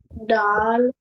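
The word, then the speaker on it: دال: the sound is the the sound it should be that soft the that think the say Dal more softer Dal Dal no with more more care it should be subtle you must not press the tongue too hard at the hill it should be more softer gentler Dal that's good enough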